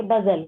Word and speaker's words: bustle: बजल बताइए, बजल। बजल है मैम, मैंने उसको बस्टल पढ़ा मैम, मेरे को बड़ी प्रोनाउंसिएशन में बड़ी दिक्कत है मैम, तो तभी तो क्या बोल रहे साइलेंट हो हैं।